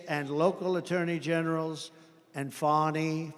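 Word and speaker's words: Fani: local attorney generals and fonnie fonnie you know fonnie spelled f a n i my name is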